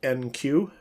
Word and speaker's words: enqueue: uml would look like this public method called NQ that's how it's pronounced n q e u e and just